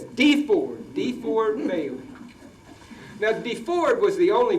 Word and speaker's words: DeFord Bailey: I used to think it was pronounced DeFord until I heard some Southerners pronounce it. And he says DeFord Bailey.